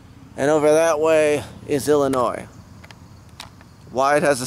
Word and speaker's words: Illinois: know we're in Iowa across the ways Wisconsin Illinois somewhere around here whatever okay so this apparently